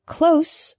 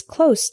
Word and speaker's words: close: common examples the word closed with an S sound means near not far for example my house is close to the bus station the word close with the Z sound is a verb this means to shut